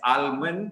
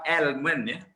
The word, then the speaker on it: almond: Okay, so and it's not almond, it's almond. US, they do pronounce the L. So when you pronounce it as almond, and remember, not almond, al. So if you pronounce it as almond, you are very American. Tiba-tiba satu word American, yang lain semua British. Okay? But kalau nak ikut, nak be consistent, English or UK pronunciation is almond.